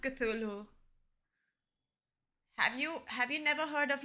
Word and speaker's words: Cthulhu: It's pronounced Cthulhu.